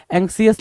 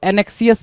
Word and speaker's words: anxious: तो ध्यान दो, एंक्सियस लिखने के लिए ANXIOUS मार्क कर दो, एंक्सियस, ठीक है? और वो एनेक्सियस बोल रहा है।